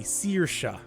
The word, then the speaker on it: Saoirse: That AOI is an E, Saoirse.